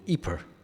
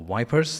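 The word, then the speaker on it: Ypres: was a small village called eeper or wipers depending on how you want to pronounce it that that you may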